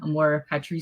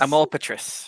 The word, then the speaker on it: Amor Patris: call that AR armor Amore yes yeah yay am more patri am more Patric yeah it's Latin for Father's Love Father's Love